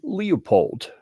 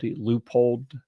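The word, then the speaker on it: Leupold: read the article so I know the proper pronunciation but I find it entertaining to call this company Leopold right okay actually Trey goes out of the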